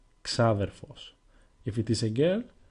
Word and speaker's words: ξάδερφος: Now, as you can see, there are three different ways with which you can pronounce the word ξάδερφος. The first way, εξάδερφος, it is rarely used. It sounds too formal and you will almost never hear it in everyday language.